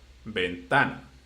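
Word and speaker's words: ventana: In the second one, it ends in a vowel. Ah, in this situation, it's the syllable of the middle, but actually it's the one before the last one. So, bentana.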